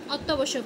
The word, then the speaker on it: অত্যাবশ্যক: ঠিক আছে তহলে অত্যাবশ্যক যখন আমরা এটা উচ্চারণ করব অত্যাবশ্যক ও আসতেছে কিন্তু একটু মাথা খাটাইতে হবে আমাদের যে অত্যাবশ্যক ওকে অত্যাবশ্যক হবে অদক্ষ অধ্যাক্ষ অধাক্ষ অধ্যাক্ষ